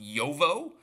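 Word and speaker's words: Uovo: It's U-O-V-O, and I believe it's pronounced Yovo, which means egg in Italian, I believe.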